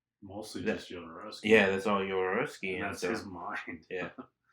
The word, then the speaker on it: Jodorowsky: Remember, it's Jodorowsky. Well, it's spelled with a J, right? Yeah. Yeah. Well, I just read shit. And then he's Mexican, so that Hispanic kind of the J Can I give him a becomes nickname?